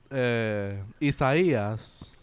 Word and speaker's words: Isaías: You gotta say it in Spanish. We know Spanish. We can say it right. Cabrón, está bien. Mala mía, puñeta. Pues, Isaías, right, went under Puerto